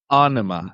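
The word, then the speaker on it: Ænima: Anima is actually how they pronounce it.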